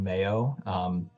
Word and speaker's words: MAEOE: The Green Schools Initiative is actually part of a larger organization called Mayo, not spelled like the condiment. It's MAEOE.